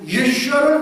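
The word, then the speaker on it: ישוע: 7만 명의 이집트 기독교인들이 유명한 동굴교회에 함께 모여서 10분간 예수님의 히브리어 발음인 예수아를 외치는 감동적인 장면입니다.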